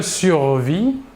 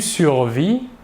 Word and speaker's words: survis: Le S et le T final de la terminaison ne se prononcent pas, mais s'écrivent.